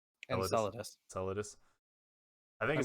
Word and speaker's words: Enceladus: access to a Clovis Bray facility out on Enceladus.